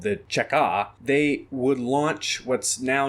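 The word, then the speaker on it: Cheka: combating counter-revolution sabotage in russian the acronym is pronounced chaca and yes this organization would be the precursor to the nkvd and later the kgb but while they were still called the chekha they would launch what's now known as the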